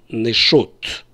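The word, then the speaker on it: נשות: Обратим здесь внимание на слово «нешот», «нешота котель». Слово «иша», «женщина», во множественном числе «нашим», но когда это слово, первое слово в смехуте, в сопряжении, то мы его произносим как «нешот».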